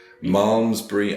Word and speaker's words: Malmesbury: of wikipedia where it tells you how to pronounce it momsbury and abby m-a-l-m-e-s berry abby armsbury happy mom's bri